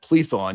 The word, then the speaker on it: Plethon: And I think you meant Plethon. You mispronounced it, but Plethon was an atheist Platonist in Byzantium.